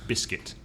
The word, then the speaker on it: biscuit: big skit biscuit and the stress is on the first syllable biscuit biscuit one of my